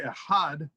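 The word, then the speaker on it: אחד: the articulation the pronunciation expansion on the word ehad is to concentrate on the unity of the divine and to be sure that we say ahad one and not ah instead of aleph dalit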